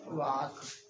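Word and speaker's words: walk: WAL के वॉक, लिखा रखा वॉक, लेकिन पढ़ा जाता है वॉक, WAL के वॉक, ING लगेगा, वॉकिंग मीन्स घूमना, लोग पढ़ते हैं वॉकिंग, कई लोग नहीं जान पाते हैं, तो क्या होगा, वॉकिंग, ये साइलेंट है।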